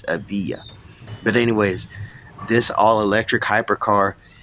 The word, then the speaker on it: Evija: It's pronounced Evija. It's not Evija. No, it's Evija.